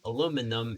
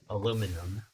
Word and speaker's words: aluminum: Yeah, I said that before, but aluminium, I believe, is British. The British spelling and pronunciation, while aluminum is American. And because Philippine English is based on American English, we also use aluminum.